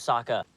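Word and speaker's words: Sokka: hurt you you lost my name's Saka rhymes with AA and Waka Waka hey hey well maybe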